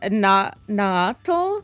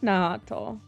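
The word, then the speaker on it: Nahuatl: Um, it name is Na Nato. Nato. It is, let me spell it out for you. N A H U A T L. That is the language that they spoke.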